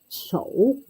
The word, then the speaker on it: 丑: It is pronounced 丑. 丑.